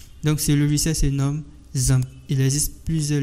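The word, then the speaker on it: XAMPP: ce logiciel se nomme zamp il existe plusieurs logiciels qui permettent de sur Milie un serveur local mais moi je préfère que vous utilisez zamp donc vous allez rechercher zamp zamp s'écrit X MPP donc on va cliquer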